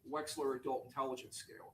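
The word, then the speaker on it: Wechsler: And that's one of se of of the several subtests of the Wexler. Correct. I want to say it correctly. That would be the waist the Waxler adult intelligence scale.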